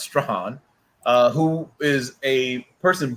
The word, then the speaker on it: Strahan: next season michael strahan and it is pronounced stran uh who is a